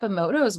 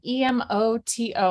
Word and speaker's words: Emoto: like physical visual is just to look up emoto's work and most people are familiar with him